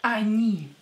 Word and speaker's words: они: And the last one is они, they. Они, they. Don't forget that when о is not stressed, you have to pronounce it as а.